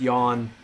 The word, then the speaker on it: Jan: last night so uh Jan is usually pronounced Yan uh by the way